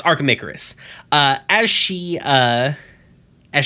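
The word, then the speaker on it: Archimicarus: archamacaris that's it that's it i could not pronounce it i do know not know why um yeah it's archamicarus uh as she uh as she goes on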